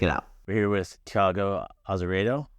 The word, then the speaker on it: Thiago Azeredo: We're here with Thiago Azeredo, right?